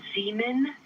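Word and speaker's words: Zeeman: We believe that that is Zean Crater. Zemen.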